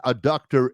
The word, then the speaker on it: adductor: It's ADDUCTOR. It's not abductor.